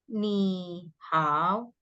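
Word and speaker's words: 你好: Peraturannya adalah kalau misalnya kamu ketemu nada tiga, ketemu nada tiga. Nah, itu berubah jadi nada dua dan nada. Contoh seperti Lai kamu baca ini. Bacanya gimana nih? Nah, benar. Lain kalau yang ini how. Heeh. Kalau ketemu enggak bisa 3-3 jadinya 23.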